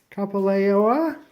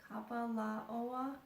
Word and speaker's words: Kapalaoa: This is the first cabin, Kapalaoa. I think I pronounced it wrong. You pronounce it, Shannon. Try it. Ah, that's okay. Give it a shot. Kapalaoa.